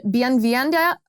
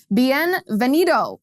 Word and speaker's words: Bienvenido: that explains this phenomenon it's called bien vienda oh butchered that word bienvenido in action bienvenido in